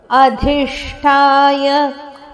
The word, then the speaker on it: ಅಧಿಷ್ಠಾಯ: ಚರಣ ಅಧಿಷ್ಟಾಯ ಅಧಿಷ್ಟಾಯ ಅಧಿಷ್ಟಾಯ ಇಲ್ಲಿ ಧ ಮಹಾಪ್ರಾಣ ಷಟ್ಕೋನದಶ ಅದಕ್ಕೆ ಮಹಾಪ್ರಾಣ ಠದ ಒತ್ತು ಅಧಿಷ್ಠಾಯ ಮನಶ್ಚಾಯ ಮನಶ್ಚಾಯ ನದ ಮೇಲೆ